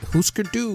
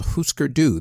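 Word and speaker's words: Hüsker Dü: case for putting the alternative indie rock group Husker do into the Rock and Roll Hall of Fame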